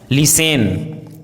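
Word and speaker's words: listen: हैं silent letter T यदि किसी वर्ड में एसटी साथ में हो तो टी का उच्चारण साइलेंट होता है जैसे castle hustle bustle लिसेन ग्लिसन often इन सभी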